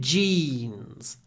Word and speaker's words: jeans: tight while we're here the word jeans try to don't just say jeans jeans there's a lot more y in the English English way of saying jeans jeans jeans and more nut as well jeans in Russian jeans I would say the English version is quite a lot longer because we stretch the Y and the jeans these jeans these jeans lots of Y before a voice n too tight